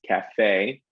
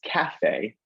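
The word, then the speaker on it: café: see a ballet right so in u.s english we hit the second syllable in both of those words cafe ballet they they're longer um in terms of the time they take up and i tend to shift my pitch on those as well but um when we head over the atlantic we switch to the first syllable and it becomes cafe and ballet um which i find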